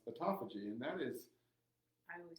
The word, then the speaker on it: autophagy: And I always say autophagy, but it is pronounced autophagy, and that is...